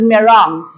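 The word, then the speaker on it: meringue: we pronounce this m-e-r-i-n-g-u-e as but the proper pronunciation of this is merong the dried eggs are used primarily as ingredients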